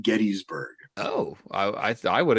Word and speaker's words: Gettysburg: I've also learned it's Gettysburg, not Gettysburg.